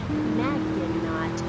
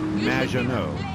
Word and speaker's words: Maginot: It's Madge, which rhymes with badge. As in duh. And no, as in more than you. Maginot.